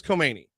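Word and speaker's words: Comey: You keep not pronouncing the K in Kani like everybody else in the world pronounces. Well, I'm going off of what is it? NBC. No, everybody says comei.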